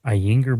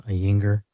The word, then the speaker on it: Ayinger: it wrong but it's a y i n g e r so ainger I'm sure the German